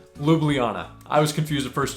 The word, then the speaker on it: Ljubljana: is pronounce it and it's four syllables Luana lublana I was confus the